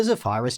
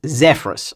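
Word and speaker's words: Zephyrus: the zenok 14 and the zaphiris g16 oh my goodness it's zephrus I always mispronounce that one anyway because of this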